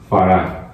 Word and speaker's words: farad: Chú ý, V chữ F thì chúng ta đọc là farad à.